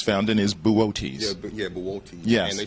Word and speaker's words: Boötes: And the constellation it's found in is Boötes.